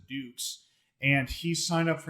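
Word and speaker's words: Dux: man named dukes and they d-u-x but they pronounce it dukes and he signed up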